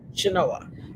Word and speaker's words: Chenoa: And tell me if I'm pronouncing it right, Chenoa or Chenoa? No, Chenoa.